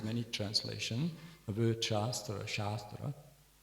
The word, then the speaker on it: shastra: The word shastra shastra pronounced properly shastra long a has um means in this context science and sacred knowledge sacred very sacred knowledge science.